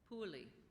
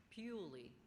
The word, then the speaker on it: puli: into a corded appearance pulie are there any alternate pronunciations Pei could I have the